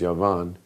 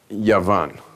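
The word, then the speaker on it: יון: in Hebrew, which is Yavan, it's spelled like this: a yud, a vav, and a nun. Okay? Yud, vav, nun, which spells the word Yavan.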